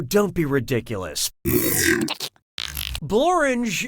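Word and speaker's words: Blorenge: Blange is a real place and it really rhymes with orange.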